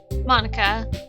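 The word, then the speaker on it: Monika: all people because it's right in your name monica oh it's mo nica that's not how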